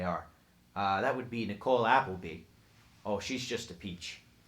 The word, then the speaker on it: Appleby: That would be Nicole Appleby. Oh, she's just a peach. Great person. Can you tell me the name one more time? Nicole Appleby. Not like the restaurant, like the last name.